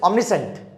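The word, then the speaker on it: omniscient: ठीक है, नेक्स्ट, अब देखो, अब इसकी प्रोनाउंसिएशन थोड़ी सी अलग है, इट इज ऑमनिसेंट। ठीक है, साइंट नहीं होता, ऑमनिसेंट इन द सेंस अ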